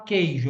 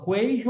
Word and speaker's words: queijo: duas palavras presta atenção a palavra queijo eu falo queijo ou queijo eu falo queijo u não é pronunciado então aí é dígrafo agora na palavra coart